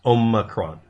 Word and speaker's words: omicron: distinctive ami kron or omicron omicron it's omacron o macron it's greek letters nobody learns that's the